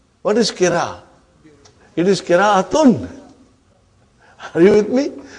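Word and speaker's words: قراءة: It is kira'atun. Are you with me? When you say kira, you did not pronounce ta marbuta.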